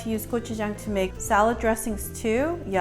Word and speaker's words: gochujang: you what it's called kochujang and phonetically I'm going to make it easy for you to pronounce gochujang is like the word go chew like chewing aw Chung let's go